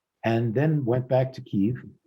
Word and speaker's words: Kyiv: then went back to Kyiv, which most people pronounce Kiev, and had some time.